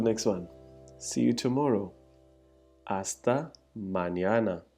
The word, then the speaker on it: hasta: Hasta mañana. Hasta mañana. Hasta means until. Literally until, till. So hasta, NH is silent.